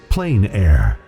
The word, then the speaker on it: plein air: which means open air or outdoors the French pronounce it plenary say plein air no matter how you say it there is